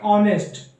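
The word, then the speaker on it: honest: पे बता सकता हूं एक ऑनेस्ट ऑनेस्ट में क्या होता है हा साइलेंट होता है तो हम इसमें यही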